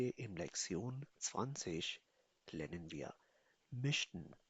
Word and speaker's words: möchten: Und heute in Lektion 20 lernen wir Mischen. Pronounce it me, Mischen.